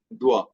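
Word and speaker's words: doivent: as you know uh for words like ending with oi like so we have the pronunciation is oi is one so we say and here it will be Dua because starting with d and in the final last one ENT silent d-o-i is Dua and we also have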